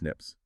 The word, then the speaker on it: SNPs: These single base variations are known as single nucleotide polymorphisms, or SNPs, pronounced SNPs.